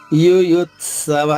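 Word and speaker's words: యుయుత్సవః: అక్షరం త ద్విత్వం చేసుకుంటూ యు యుత్సవ ద్విత్వం అంటే రెండుఅని గుర్తు పెట్టుకోండి ండమ్మా ఆఘాతు ఎప్పుడున్నా దాని తర్వాత అక్షరం ద్విత్వం అవుతుంది ద్విత్వం అంటే రెండు అక్షరాలు అవుతుంది అది బాగా గుర్తుపెట్టుకోండి యోయుత్సవః యోయుత్సవః విసర్గ ఉచ్చారణ హ్రస్వంగా మూడవ మూడవ చరణము మామ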